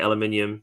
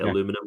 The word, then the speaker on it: aluminium: so it'll just be i say aluminium because i say it right but you guys say aluminum which is what the